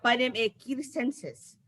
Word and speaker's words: Panem circenses: En latino la C era K, entonces sería Panem circenses. Panem circenses. ¿Circenses? Circenses, porque la C era, se pronunciaba como la K.